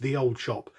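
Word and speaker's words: Ye Olde Shoppe: have been aware that ye oldie shoppie is pronounced the old shop and the reasons behind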